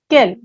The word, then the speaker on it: quel: for example kell blur the pronunciation remains same for all the interrogative adjective either it is masculine feminine singular or plural but there is a